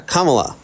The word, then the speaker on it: Kamala: and also it's Kamala can you say commala correctly I said exactly how you said it spell it out say Comm the sybl say the syllables comma la yeah Kamala there you go I said that